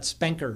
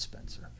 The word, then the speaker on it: Spencer: It's not Spenker or anything like that. It's Spencer, right?